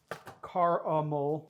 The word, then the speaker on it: caramel: I'm trying to say the I pronounce it caramel, but I know there's additional A, so I'm trying to say the caramel.